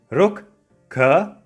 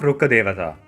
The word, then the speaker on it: Rukkadewata: If I slow it down, you can say it as Rkkadevata. Rkkadevata. Rkkadevata. It's similar to how when you write Tha Romaji for Japanese, it's pronounced as Tha. So even if it's Rkkadevata, we say it as Rkkadevata, which means tree god.